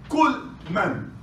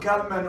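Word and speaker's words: ܟܠ ܡܢ: Number 4, Kul Man. Kul Man. I wanted to pronounce ooh in the beginning. Kul man. Kul man. It's not Kalman or Kalaman.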